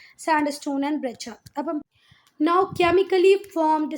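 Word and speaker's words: breccia: और इसकी एग्जांपल है सैंडस्टोन एंड ब्रेचा। इसको पढ़ के कोई नहीं बोलेगा कि इसका प्रोनाउंसिएशन ब्रेचा है, पर बेटा ब्रेचा ही, आप गूगल पे चेक कर सकते हैं।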